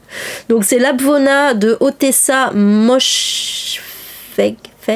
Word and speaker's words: Moshfegh: Donc c'est l'Abvona de Otessa Moshfegh. Le GH se prononce pas, donc Moshfegh, je sais pas.